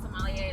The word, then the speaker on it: sommelier: So are you trying to be a sommelier? Is that how you pronounce it? Yeah, sommelier.